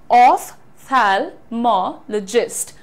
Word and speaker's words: ophthalmologist: तुम्हारा PH होता है, इसको जब तुम फिजिक्स पढ़ते हो तो यहाँ तो फ का साउंड दे देते हो, फिर यहां पर फ का साउंड क्यों नहीं देते हो? देना चाहिए। The pronunciation is ऑफ्थेल्मोलॉजिस्ट।